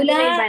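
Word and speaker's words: أولئك: एक ही हरकत पढ़ेंगे, वाव जो है उसको साइलेंट रखना है, हाँ जी, उसका मद नहीं उलाइका, बनेगा।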